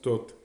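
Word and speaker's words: Thot: squelette le déterminatif du dieu donc ça se prononce tout donc voilà c'est tout pour aujourd'hui la prochaine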